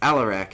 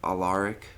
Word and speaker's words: Alarak: It's Allarak everyone. Not Aly or Allaric. It's Allarak.